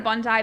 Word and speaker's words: Bondi: so that's why I know how to properly pronounce it. I'm sorry. It's okay. Yeah, Bondi, that's correct. I would go to Bondi, but I was sort of more like North